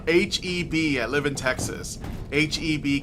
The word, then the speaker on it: HEB: It's pronounced HEB, okay.